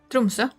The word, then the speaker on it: Tromsø: How do you say the Tromsø? O with the slash? Ö. Tromsø. Oh. So O, Tromsø. Ö.